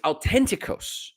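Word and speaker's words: αὐθεντικός: Authenticos in the Greek is authenticos. It doesn't have the th. It has the t and then a hard stop and then the h starts another uh pronunciation on the word authenticos.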